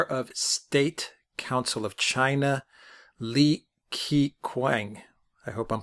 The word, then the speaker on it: Li Keqiang: the way i understand that his name is pronounced li ket's yang li it's you yeah the legal eq is